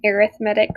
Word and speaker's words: arithmetic: So the first thing that we're going to do is define an arithmetic sequence. And I know it seems like I'm saying it wrong, but that's actually how you say it.